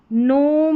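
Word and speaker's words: gnome: पर भी जी एन है नोम नो नैश यहां पर है नेट और यह है नस्टिक क्या है नस्टिक जी एन को पढ़ा न क्योंकि जी जो है वो साइलेंट है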